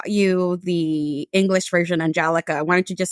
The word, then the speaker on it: Angelica: Followed by another individual that said, well, isn't it the same as the English version, Angelica? Why don't you just say Angelica?